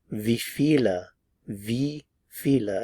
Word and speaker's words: wie viele: of the V feel feel V how many V Vila again notice the pronunciation of the letter W here V and